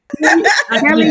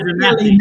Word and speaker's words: Kelly: Kelly did say my name is Kelly, not Kel.